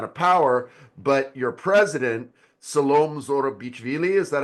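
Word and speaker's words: Salome: a large amount of power but your president salom Zoro BV is that how you say it salom yeah salom salom salom zor she is out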